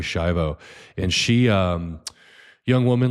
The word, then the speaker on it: Schiavo: And if you want to Google it, I think it's spelled Terri, and then Schiavo is Shiv like Victor O, Terry Schiavo.